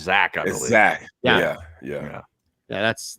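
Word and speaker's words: Zech: yeah and it's it's zack right they're not zek he'd spelled zek but pronounced zack zack yeah yeah yeah that's that's another that's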